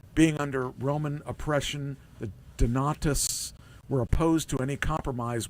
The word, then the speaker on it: Donatists: Is that how I pronounce it? Donatists? Yes. Okay, a group of Christians who emerged in AD 312.